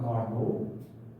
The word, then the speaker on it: Carnot: I'm not very good in French pronunciation, but I get the T is not pronounced. Saint Nicholas Rauna Carnot.